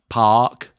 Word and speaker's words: Anderson Paak: It's P-A full stop A-K. Do you think it might be 2 syllables? Paak. For us, from now on, it's Anderson Paak.